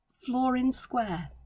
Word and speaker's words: Flor-In-Square: that is new to me and it's called flooring square and that is spelled f-l-o-r dash in dash square and it